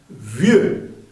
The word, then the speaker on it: vieux: Un vieux, V, dentilabial, vieux, la X no se pronuncia, monsieur.